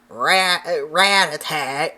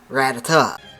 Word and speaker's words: Rattata: So, as a kid, this always drove me insane when people would call it Rat Rat or Rattata because in the anime they say Ratata.